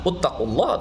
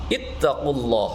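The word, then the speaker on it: اتقوا الله: Uttaqulah atau atqulah atau eh ittaqulah. Nah, yang benar sesuai dengan rumus tadi untuk ee fi'il. dengan ee rumusan ee ia ya kan jadi iman. Jadi dibacanya harus ya ayyuhalladzina amanutqulah ittaqulah haqq tuqati ittaqulah.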